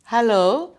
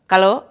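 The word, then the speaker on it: hello: அப்போ இந்த ஹான சத்தத்தை நீங்கள் உச்சரிக்க பழகாவிட்டால் அதிலேயே புலவிட்டுருவீர்கள். பல பேர் நான் கேட்டது, என்னுடைய மாணவர்கள் பாடசாலைகளிலேயும் வந்தாலும் பெற்றோர்களும் கலோ என்றுவார்கள். அவர்கள் எத்தனைக்கிறார்கள், ஆனால் உச்சரிப்பு பிழை. ஆகவே நீங்கள் பயிற்சி செய்து அந்த உச்சரிப்பை சரியாக எடுத்துக்கொள்ளுங்கள்.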